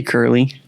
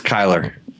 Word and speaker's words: Kyler: How do you say his first name? I'd say Curly. it's Kyler. Kyler?